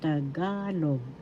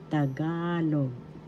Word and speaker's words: Tagalog: The second syllable is ga. And that's where the accent is and that's how it is pronounced. Tagalog. Tagalog.